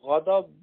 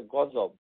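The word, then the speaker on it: غضب: এই জন্য আমাদের দেশে গদব কেউ বলে না, বলে গজব। মানে দোয়াতকে জোয়া উচ্চারণ করে, যেটি অশুদ্ধ। গাদাব মানে হচ্ছে গাদাব, আর এটাকে বাংলাদেশে বলা হয় গজব। একই জিনিস, কিন্তু দোয়াতকে জোয়াত করেছে।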